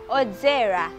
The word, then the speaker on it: odzera: Odzera. It is spelled as O-D-Z-E-R-A.